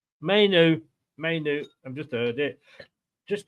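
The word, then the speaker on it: Mainoo: Is it pronounced Manu? Mainu.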